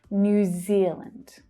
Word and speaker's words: New Zealand: Then the second word, Zealand, has the first syllable stressed. Zealand. New Zealand.